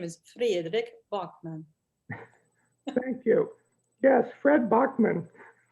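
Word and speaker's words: Fredrik Backman: His name is Fredrik Bachman.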